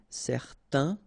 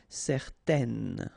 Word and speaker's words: certain: will change the thing, and then you will pronounce it n. Okay, so the masculine form, certain, the feminine form, certaine.